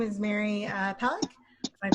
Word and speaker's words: Palac: hi hi everyone my name is mary uh pollock i pronounce it see her i live in san